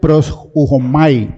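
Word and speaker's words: προσεύχομαι: En el griego eh se pronuncia pros ujomai, pero pro es que yo soy pro.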